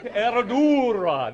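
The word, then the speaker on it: Herradura: it's uh it's it's starts with an H but the proper pronunciation is er er can we can anybody ER ER eradura that's it uh which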